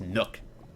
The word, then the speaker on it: Nook: It's pronounced Nook.